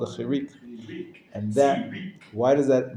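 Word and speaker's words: חיריק: The one dot is called a chirik. And that, why does that, no, that's something else. Chirik. You're mispronouncing it, and it's a different vowel. Say Rei has the A sound. Chirik has an E sound.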